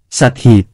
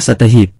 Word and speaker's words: สัตหีบ: ถ้า ลอยตามน้ำ จะพูดว่า រសាត់តាមទឹក ถ้าจะเรียกสถานที่นี้ว่า สัดหีบ ก็ไม่เพราะ ต้องเรียกว่า สัตหีบ คือ ออกเสียง ตะ เพิ่มเข้าไป จะเพราะและน่าฟังกว่า คนสมัยต่อมาได้ยินว่า สัตต ก็ตีความว่าเป็น 7